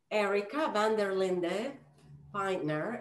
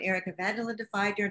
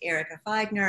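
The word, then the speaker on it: Erica Vanderlinde Feidner: Am I saying it right? You can correct me. I've gone back and forth from Erika Vanderlinde Feidner to just Erika Feidner, and either works, and your pronunciation was perfect.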